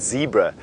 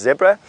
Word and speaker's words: zebra: and in that sense, you are 100% correct in saying zebra. That's how North Americans pronounce zebra. If you come from South Africa and I suppose Europe in a way, Australia, we say zebra.